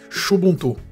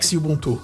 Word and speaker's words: Xubuntu: que Ele sempre reclama do nome da distribuição shubuntu que na verdade é esse x a gente pronúncia ele é xubuntu né ou Zulu que